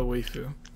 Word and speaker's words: waifu: I think this the title of this video will be "Who is best Zelda waifu?" Okay. Yeah, but We're pronouncing it wrong. It's waifu. Waifu, Like waifu. your waifu, like wafer cookie.